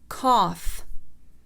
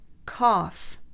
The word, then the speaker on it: cough: القاعدة العاشرة: إذا جاء حرف الجي يليه حرف الاتش فإنهما إما لا يلفظان أو يلفظان، وتلفظ بالفه. ف. So for the f sound, enough, enough. Cough, cough.